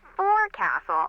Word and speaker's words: forecastle: ship, but it's pronounced forecastle. Why's that? Try pronouncing it like an English sailor with no formal education.